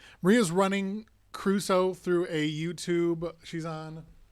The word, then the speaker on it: Crusoe: on the clock still if you pronounce it Caruso instead of Crusoe you still don't get